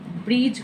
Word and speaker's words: bridge: जैसे हमने लिखा BRIDGE, डी के जस्ट बाद क्या है, जी, तो हम इसे ब्रीज पढ़ेंगे, यानी डी को क्या कर देंगे, साइलेंट।